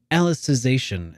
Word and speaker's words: Alicization: and then that's actually alicization is apparently how this is supposed to be pronounced because it's reference to alice in wonderland i don't i don't